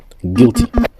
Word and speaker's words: guilty: Guilty, guilty, on dit guilty, on dit pas guilty. Donc ces lettres, ces mots-là, on ignore, on on on laisse tomber la prononction de U.